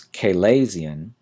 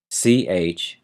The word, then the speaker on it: chalazion: And our next term is a little odd to pronounce and spell. It's chalazion, chalazion.